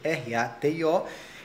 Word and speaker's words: ratio: A razão vem da palavra ratio, se escreve ratio com T, R-A-T-I-O, e se pronuncia em latim ratio.